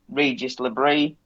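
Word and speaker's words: Régis Le Bris: pronunciation update every week I pronounced it differently I think on the lady uh presenter pronounced it Regis labre so that's how I'm going to be pronouncing it from now on they've lost just put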